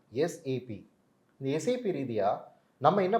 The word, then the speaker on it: SAP: இன்னைக்கு நம்ம என்ன பார்க்க போறோம்னா எஸ்ஏபி சாப் அப்படின்னு நிறைய பேர் ப்ரொனவுன்ஸ் பண்ணுவாங்க. பட் ப்ராப்பராக சொல்லணும் அப்படின்னா எஸ்ஏபி.